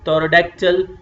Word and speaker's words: pterodactyl: In the same way, P, T is coming together, so P you are not going to pronounce, you will say pterodactyl.